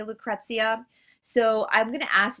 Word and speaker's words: Lucrezia: And I had some pushback with the way I say Lucrezia, which is the way all Americans say Lucrezia.